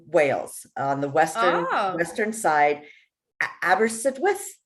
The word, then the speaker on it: Aberystwyth: Aberystwyth, I think is how you say it.